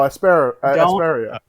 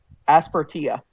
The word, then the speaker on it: Aspertia: Yeah, would I you would guys say pronounce Aspertia as well. Phoenix, Giga? I'm Googling it. Oh, Asperia.